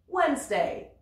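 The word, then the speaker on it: Wednesday: avec mercredi en anglais wedesday wesday on nentend pas ce d le G parfois ne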